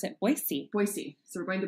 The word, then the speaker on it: Boise: Is that that's the you're supposed to pronounce it Boise.